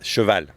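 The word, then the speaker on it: cheval: how do you say how do you say horse horses Chevelle Chevelle good so now I did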